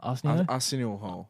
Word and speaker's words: Arsenio Hall: How do you pronounce his name? Arsenio Hall.